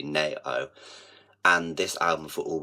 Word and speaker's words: Nao: really really really love nail as an artist um I'm not sure if you would have heard of her you spell it nao literally narrow and this album for